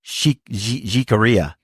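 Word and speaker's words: Jicarilla: Is that how you say it? Jakaria. Jikaria. That's what it is. Apaches. Some Jikaria Apaches somewhere out on the plains to the east of the Santa Fe Trail. Uh, jikaria is spelled J I C A R I L L A. So if you're American, you say Jarella.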